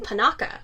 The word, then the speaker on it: Panaka: And so then we have Padme and Captain Panaka.